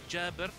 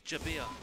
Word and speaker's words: Jabir: Actually, no, you'll notice I pronounced his name Gerber, but you guys would probably read it as Jabir.